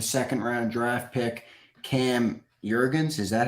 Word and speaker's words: Jurgens: over to the second round draft pick cam jurgens is that how you pronounce it yeah that was a lot of it is jurgens there was a lot i guess cam was